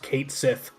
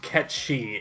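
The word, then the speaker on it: Cait Sith: that it's not pronounced Kate Sith that's been very funny to me to watch people I've already it's pronounced catchy it's Scottish I played that because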